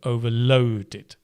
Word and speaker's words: overloaded: And you would stress low, overloaded.